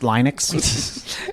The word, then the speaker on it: Linux: It's pronounced Linux.